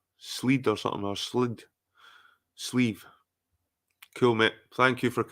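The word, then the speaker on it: sliabh: sleeve right right guys it's pronounced sleeve they look McKee is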